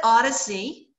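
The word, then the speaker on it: OHDSI: coordinating center of this we call it Odyssey because it's easy to pronounce it stands for observational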